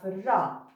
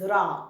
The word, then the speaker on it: ر: Now let's go to the second letter today, which is harf ra.